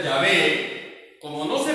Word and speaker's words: Yahvé: Pero la pronunciación correcta es Yahvé. Esto es un artificio. Esto es un artificio que se hizo en el siglo 8-9 después de Cristo. Y así se estuvo pronunciando Jehová hasta el siglo 16-17, donde se volvió otra vez a la pronunciación correcta, Yahvé. Que quede claro, hermanos, que la pronunciación correcta de estas 4 letras sagradas es Yahvé.